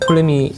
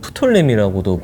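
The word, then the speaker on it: Ptolemy: 어 톨레미 남았네요. 네 톨레미 뭐 한국에서는 푸톨레미라고도 불리더라고요. 그렇죠. 이게 피가 묵음.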